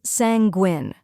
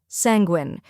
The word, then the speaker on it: sanguine: the correct pronunciation is sanguin let's break it down first we have sang which rhymes with hang and is the stressed syllable next is gwin which